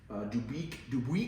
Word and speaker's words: Dubuque: This one was sold new at Fine Ford, F-I-N-N, Fine Ford in Dubuque, I think that's how they pronounce it, Iowa, to its original owner, who was based in Wisconsin.